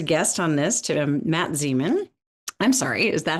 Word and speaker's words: Zemon: have as a guest on this to Matt Zean.